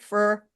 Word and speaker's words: Freur: understand am I pronouncing the band name right? Freur, Freur.